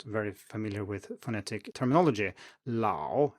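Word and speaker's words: 老: next we also have an a that comes before ng or o and for example we have this in lao as in old lao and this ah here is further back into the mouth and you can almost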